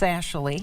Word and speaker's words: Sashali: Well, it's pronounced Sashali. Sashali. Okay. Yeah, no problem. Our three daughters, Sarah, Ashley, and Molly. So we kind of smashed it together, and there you have it.